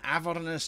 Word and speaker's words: Avernus: Or Avernus as I've heard it pronounced, but I can't handle that pronunciation. It's Avernus as far as I'm concerned.